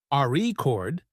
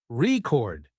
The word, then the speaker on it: record: For example, in the word record, if you stress the first syllable, RE chord, it's a noun, but if you stress the second syllable, record, it's a verb practicing stress, and intonation makes you sound more natural.